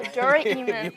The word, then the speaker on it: Doraemon: Doraemon. Oh, Doraemon. If you want to get technical, sorry.